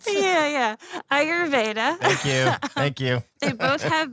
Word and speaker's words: Ayurveda: derivative of oh my God, I'm going to pronounce this wrong. Ayurvedic, whatever it is. You know, my wife said, wow, I butchered that, but you know what I'm saying, right? Yeah. Ayurveda.